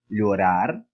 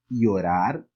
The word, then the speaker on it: llorar: E poderíamos pronunciar essa palavra assim, ó, llorar. Ou, a depender desse país, ele poderia ter o som de I. E falaríamos llorar.